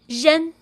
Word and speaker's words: ren: REN is pronounced as zhen, zhen, with R being zh, like J in the French name Jacques, or S in Asia, or S in measure, zh, zh, plus N as in taken, alright?